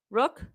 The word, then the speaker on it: Rourke: His last name is pronounced Rourke.